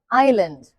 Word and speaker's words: island: The B is silent but the lamb says island. The S is silent. So no, it's not Iceland.